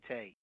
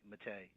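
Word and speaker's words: Mette: Her last name is Matei, M-E-T-T-E, Matei. And her first name is spelled E-X-C-I.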